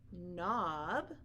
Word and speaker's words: knob: are the word no knob not Knight knife and knuckle now in all of those words they all begin with K but we don't hear a sound at the beginning we only hear that